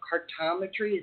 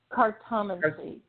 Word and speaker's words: cartomancy: Cartometry, is that how you say it? Cartomancy.